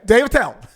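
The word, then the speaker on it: Dave Attell: i tell go well when you say my name just say quick just say david tell don't don't don't pause no falls don't lean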